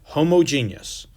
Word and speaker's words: homogeneous: homogeneous mixture and that's how you say that homogeneous so we can talk about what that is in a second but i want you to understand how to say it homogeneous mixture and then over here we have the